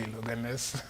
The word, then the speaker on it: Loganez: Did I pronounce the name correctly? Because they're saying that's your friend. It's actually Loganez.